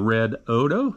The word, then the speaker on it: REDODO: uh upgraded it and renamed it to the red odo that is the way it's pronounced uh that was told to me by the people at red odo who sent this out to me for a